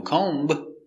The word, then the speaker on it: comb: cute very good example comb no comb the B is silent comb comb is a